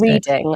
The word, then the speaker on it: Reading: It's actually pronounced Reading, I think.